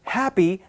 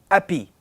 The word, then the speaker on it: happy: If you take French people again, who tend to forget to pronounce the letter H, instead of the word happy, they might pronounce it happy. And that might be harder to understand because there's actually a sound that's missing.